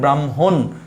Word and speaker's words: ব্রাহ্মণ: তাই আমি এটা অবশ্যই দন্তন্য করে দিলাম, আর আমরা উচ্চারণটা করি ব্রাহ্মণ, এখানে এসে থেমে যাচ্ছে, এই যে আমরা থেমে গেলাম, আমরা ওকারন্ত দিচ্ছি না, থেমে যাচ্ছে, এই হচ্ছে আমাদের ব্রাহ্মণ।